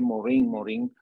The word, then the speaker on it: Morin: El planteamiento central de Morin, que es como se pronuncia en francés, él plantea que el